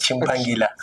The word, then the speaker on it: Chimpangila: Bien sûr, bon, j'accepte comme tout le monde pourrait le massacrer, mais ça se prononce Chimpangila.